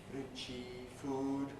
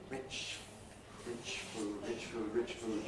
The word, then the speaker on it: rich food: Rich food, not richy food, rich food, but rich food, 2 syllables.